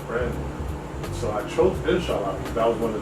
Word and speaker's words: Inshallah: How do you pronounce it? Forgive me. Inshallah? Inshallah.